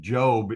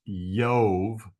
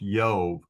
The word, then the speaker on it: Job: Jesus name Yeshua so it's the Y sound um so the name isn't pronounced job anyway it's yob so this name is pronounced yob but there's a famous